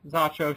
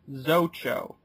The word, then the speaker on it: Zacho: Why we decided to mispronounce it is, well, it's an interesting point, because actually, Zacho should be pronounced Zocho.